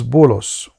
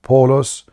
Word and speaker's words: Bulos: And the third one, his name is Bulos. This is the written way in the Muhammadan do not even know how to say the name correctly. So Bulos is the third messenger, and the town was Antioch. So the stupid Muhammadan in their website, in their book, they say Paulos, he was a messenger